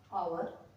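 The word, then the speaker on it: hour: जैसे ऑनर, ठीक है, ऑनर, ऑनर नहीं बोलेंगे इसको, ऑनर, एच ओ यू आर, आवर, आवर, honest, H ओ एन ई एस टी, ठीक है, ऑनेस्ट। यहां पर ओ से पहले एच आया है तो एच हमारा साइलेंट हो गया है।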